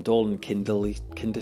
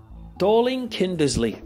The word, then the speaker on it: Dorling Kindersley: in the movies from dolan kimberly kinder see I just pronounce that DK darling kinder Lee let me check this out hang on no this is it's probably the most famous Dorling Kindersley thank you that took